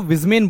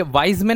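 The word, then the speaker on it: Weismann: ये वाइजमेन नहीं बोलेंगे, विजमेन बोलेंगे। तो व को यहां पे ब ही प्रोनाउंस करते हैं, ध्यान रखना।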